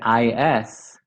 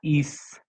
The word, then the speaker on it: is: beginning like for example the verb to be the is it's not east it's not voiceless it's voiced yeah is is is there